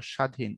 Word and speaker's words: স্বাধীন: এখানে প্রপারলি নিতে চাই দেখো স্বাধীন যেহেতু প্রথমটা স এর মত হবে স কোন কম্প্রমাইজ করার কোন সুযোগ নাই তাহলে দ্বন্দ স্বাধীন হইতে পারে হবে না দীর্ঘ ইকার হবে না হবে রস ইকার তাহলে উচ্চারণ হলো স্বাধীন এটা হলো প্রপার উচ্চারণ ওকে আচ্ছা তারপরে আসো